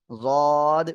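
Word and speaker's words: ض: সবাই আর উচ্চারণ করেন জিহ্বার গোড়ার কিনারা উপরে মাড়ির দাঁতের গোড়ার সঙ্গে লাগিয়ে জদ উচ্চারিত হবে ঠিক আছে ওকে ঠিক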